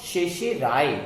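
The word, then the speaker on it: certiorari: यहां पर दोनों आर साइलेंट है, सी आर और टी आई ओ आर दोनों आर साइलेंट है, आखिरी आर है, यानी शर्टी और राय बोलने के बजाय हम शेषे राय बोलते हैं और इंग्लिश हिंदी में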